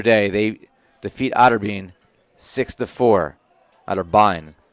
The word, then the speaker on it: Otterbein: Otterbein is the actual pronunciation there.